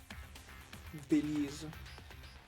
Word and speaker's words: Delisle: Delise. That makes sense, right? Yeah, French does like to have all those silent letters, so Delise does make sense. And Delise. Yeah, I could see the second I being silent.